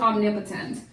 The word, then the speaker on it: omnipotent: Yeah, that's 4 syllables. So we have there's the first syllable. Nip, there's the second syllable. O, third syllable, and tent. Omnipotent.